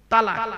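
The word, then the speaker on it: طلاق: এখানে বউ এনে দেবো চিন্তা নেই হলো বাপ তালাক বলেন তাইতো শব্দটা তালাক বলবেন না শব্দটা তালাক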